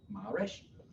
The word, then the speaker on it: Maresch: It's Maresch with the A pronounced like in the word father, and the accent is on the first syllable, Maresch.